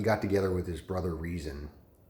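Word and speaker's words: Rezin: together with his brother reason it's spelled like resin but it's pronounced reason trust me um anyway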